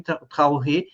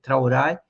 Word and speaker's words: Traoré: Um deles é esse jovem brilhante Ibraim Tauré. Eh, acho que a pronúncia do nome dele não é essa, é é Traorai. Eh, o re é a pronúncia a francesada, francesada, né?